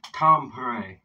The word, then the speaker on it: Tampere: That's the pronunciation. Tampere. It's got a roll on it.